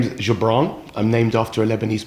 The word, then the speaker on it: Goubran: um by the way everybody gets my name wrong so it's actually jabran if you want to get right like how my mom would say it Jabron so in the course